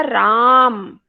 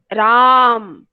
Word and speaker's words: राम: क्योंकि जो diacritical mark है ए के ऊपर, ये छोटा सा चिन्ह है, ये बता रहा है कि यहाँ पर ए दीर्घ है, अर्थात अस्वर का उच्चारण दीर्घ करना है हमको, राम।